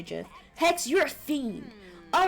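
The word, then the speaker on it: GIF: and GFS with a with a soft G I'm with the mayor I say Jeff I also say Jeff hex you're a fiend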